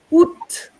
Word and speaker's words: août: Then, if we go to the fourth line, août, en août, you pronounce the T.